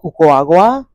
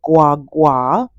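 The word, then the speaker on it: guagua: you can get on the uaga which is spelled Gua Gua which some people pronounce guag Gua and it is the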